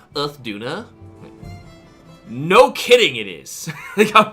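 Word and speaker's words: Uth Duna: Like, it's actually pronounced Earth Duna.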